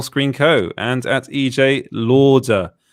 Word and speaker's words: Lauder: co and at ej lauder l-a-u-d-e-r not louder it's lauder we're talking about how